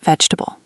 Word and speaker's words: vegetable: Many learners pronounce every syllable separately, But native speakers often shorten it. more like vegetable.